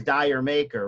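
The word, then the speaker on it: D'yer Mak'er: Yeah, I love nobody, I always hear people mispronounce the song. It's on side 2, Jamaica, okay? Jamaica? Which everyone pronounces as Dyer Maker, right? And I used to do it too for the longest time until I saw Robert Plant explain. It's how British people say Jamaica.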